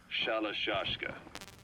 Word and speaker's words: Shalashka: about that because somewhere along the line, Shashka got stuck on the end of Sharashka. The gorillas were using the name amongst themselves. By the time I got to hearing about it, pronunciation had wound up as Shalashka.